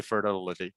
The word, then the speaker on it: fertility: So the T, because it's stressed, we cannot flap that that syllable, and that's why we cannot say fertility, right?